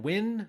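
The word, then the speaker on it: Nguyen: is drawn by uh Dustin win that's spelled n guu yeen who's best known for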